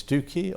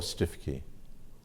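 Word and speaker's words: Stiffkey: anybody here from Norfolk stiff icky is its Tookie or stiff icky right okay well either will do will it okay in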